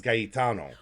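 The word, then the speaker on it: Gaetano: So in Italian and in like Spanish, you pronounce each vowel. So it's gayano which I which I which they pronounce it gayano.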